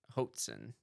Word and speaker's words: Hoatzin: So it's literally spelled like goat with an H. Yep. Hoat. Okay. And then Zin. Z-I-N. Hoatzin.